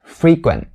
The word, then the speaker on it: frequent: like a native speaker you should stop the t sound frequent stop the t sound right there and how do you stop it you just have to put your tongue into the position as if you're about to say it and then stop all the sound all at once and you'll be able to make that stop t sound flawlessly to use this word